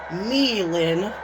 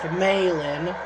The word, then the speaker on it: May Lynn: or what Mike Rome likes to call her, Meilin, but her name is pronounced Maylin.